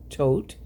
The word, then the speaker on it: Thoth: whether it's Rider-Waite-Smith or the Thoth, which I understand in Egypt is pronounced Tote, and the Marseille, which has a rich, rich heritage.